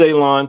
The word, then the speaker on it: Alon: My name is Alon, pronounced like you're going to cut grass, like you're going to cut a lawn.